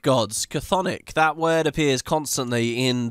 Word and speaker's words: Chthonic: oh, God, how do you even pronounce it? The C-T-H-O-N-I-A-N gods or whatever. The Chthonic gods. Chthonic.